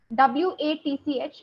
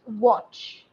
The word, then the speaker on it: watch: be your pronunciation okay w-a-t-c-h it's watch not watch okay watch that o sound watch okay and similarly p-r-o-p-e-r